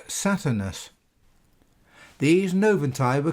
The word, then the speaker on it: Saturnus: Note that in Latin the V was pronounced as a U. Hence the name, which is written Satvernus, is actually pronounced Saturnus.